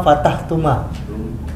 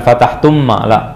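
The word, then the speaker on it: فَتَحْتُمَا: anta Fatah fatahta antuma fatahtuma antum ant Ana Fatah nahn fatahna Jamil antuma fatahtuma antuma fatahtuma bukan bukan ditasdid bukan fatahtumma fatahtumaatahtuma ahs artinya apa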